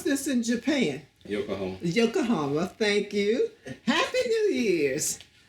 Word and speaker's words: Yokohama: seven military police company and how do you pronounce this in Japan you're all Yokohama thank you happy new years and of course